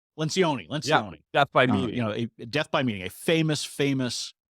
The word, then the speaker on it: Lencioni: Leoncini, I can't remember how to Yep, pronounce his name. Lencioni.